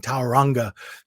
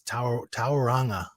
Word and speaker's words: Tauranga: it out loud because i was doing tauranga but it's tauranga anyway i'll probably never